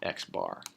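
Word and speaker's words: x̄: is um said xar okay that's pronounced xar median is a little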